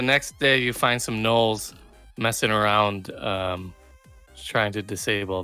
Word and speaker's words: Gnoll: Spelled with a G, and the computer does not. It wants me to spell check it. Gnoll. Gnoll. Oh, is it like a gnome? No.